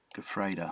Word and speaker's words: Gefreiter: Gefreiter. Gefreiter, that's it. The internet is amazing. I did not spell that anything like it was.